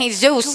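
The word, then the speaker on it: Jesús: jesus manolo and jesus you don't pronounce it jay where is there a j and manolo and he's zeus will you quit worrying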